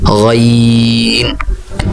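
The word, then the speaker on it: غين: আমি আবার উচ্চারণ করছি আইন। এর পরবর্তী অক্ষর যেটা, সেটা হচ্ছে গাইন।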